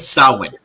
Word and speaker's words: Samhain: He said Samhain. He pronounced it properly.